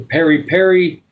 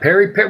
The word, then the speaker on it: peri peri: Yep, peri peri. Well, it's actually spelled with an E. P-E-R-I. P-E-R-I. But it's okay. Either way, it sounds the same, so it's fine.